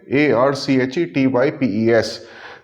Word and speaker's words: archetypes: A R C H E T Y P E S. This means this word otherwise pronounced as archetypes.